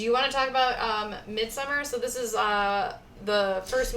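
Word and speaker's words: Midsommar: So yeah, we're talking about Midsummer, the way it's spelled. Sorry. That's how they say it in Swedish. Midsummer.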